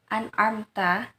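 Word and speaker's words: أنعمت: Misalkan lafadz an'amta, seringkali kalau kita terburu-buru dalam membaca surat Al-Fatihah, secara tidak sadar mungkin kita membacanya ain itu dibaca hamzah.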